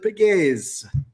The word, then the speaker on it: Pegues: And then there's that French influence. We believe that there is a French Portuguese origin to the name, and so over there they would have pronounced it Pegues.